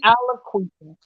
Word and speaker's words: Aliquippa: How do you pronounce her name? Queen Queen Aliquipa. Queen Aliquippa.